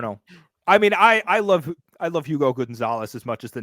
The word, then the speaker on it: Hugo: I mean, I love Hugo Gonzalez as much as the next guy, and I think he's spectacular. Hugo. Yeah. Hugo. I said Hugo. I have too much. I think the H is silent there.